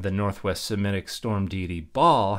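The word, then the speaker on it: Baal: Northwest Semitic storm de ball has a name that is pronounced similar to the way we would pronounce the noun that refers to the round thing that we hit with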